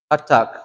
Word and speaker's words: hatak: So what did I say about double consonants? You have to pronounce both of them, okay? So hatak. You hear how I'm saying it?